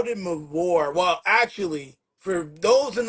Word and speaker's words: MVORE: MVORE, MVORE, motivated, versatile, original, real, and extraordinary. That's MVORE. It's pronounced MVORE, not MVORE, Yo, not remember MVORE. It's MVORE.